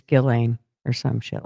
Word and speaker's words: Ghislaine: I know that's not how you say it, but it's how I say it. They're lucky I didn't say it. put a Z there and forget the H. But but I know it's Gillain or some shit like